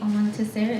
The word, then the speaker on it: Almontaser: Debbie Almontaser. Am I pronouncing your last name That's correctly? fine. Okay. You're doing the Arabic version, which is always a treat to hear.